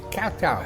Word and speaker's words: Khao Tao: Get pronunciation right now. And it's it's Katau, a selfie paradise.